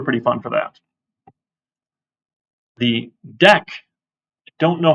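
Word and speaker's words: deque: fun for that the deck don't know how this is pronounced deck I guess the UE is silent right and a q without a u actually sounds like a k because English excuse me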